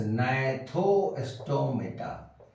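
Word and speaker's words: Gnathostomata: fish another one इज नाथो स्टोमेटा hair वा यू कैन see this is going to be eliminated this is going to be deleted जी जी इ not pronounced नथो स्टोमेटा नथो स्टोमेटा hair jaws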